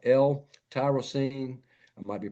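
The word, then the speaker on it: L-tyrosine: Amino acids like L tyrosine. I might be pronouncing that wrong.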